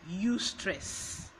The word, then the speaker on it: eustress: opposite of distress is you stress it's pronounced you stress but you have an EU in front of stress so instead of the